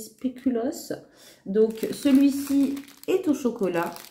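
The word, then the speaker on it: spéculoos: prononciation mais bon maintenant je sais que ça se dit spéulos donc celui-ci est au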